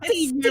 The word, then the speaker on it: Xavier: It's Xavier, but I like to call it Javier because it kind of sounds cool with it.